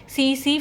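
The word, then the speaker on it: tsetse: vector क्या होता है सी सी फ्लाई होता है इसके अंदर टी है वो साइलेंट होता है फिर इसका थर्ड टाइप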